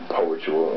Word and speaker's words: petual: think I've uh created petual and it's pronounced like spiritual and what that means to